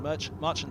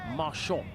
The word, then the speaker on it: Marchand: Marchant to Langer, who is a real pace merchant. Definitely a pace merchant, yeah, I like it. Or I think Marchand is how he likes to pronounce it.